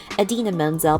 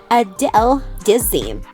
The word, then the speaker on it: Idina Menzel: Unfortunately, however, he pronounced her name incorrectly the entire time. It sounded like Adele Dazeem, or something similar.